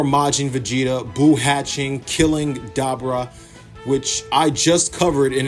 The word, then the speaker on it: Dabura: They mentioned that Dabra, which is how his name is supposed to be pronounced, because it's a pun on something that I'm gonna get to in a second.